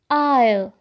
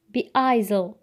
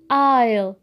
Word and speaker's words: aisle: aisle aisle وليس بايزل تنطق aisle aisle بمعنى ممر أي الممر الموجود بين الكراسي.